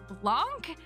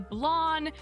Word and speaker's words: Blanc: I've been calling it Blanc, but many comments have let me know it's actually Blon.